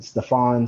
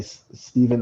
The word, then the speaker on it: Stephen: get some some people so i've had people call me stefan stefan uh stephen or sorry stefan um so if i had that feature enabled it would say steven so people could not